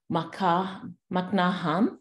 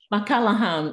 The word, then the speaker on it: McCallahan: We have McNaham. Did I pronounce it well? McCallahan. McCallahan, okay.